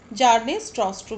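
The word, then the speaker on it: Bjarne Stroustrup: जार्नेस स्ट्रॉस्ट्रूप। B silent रहेगा यहाँ पे।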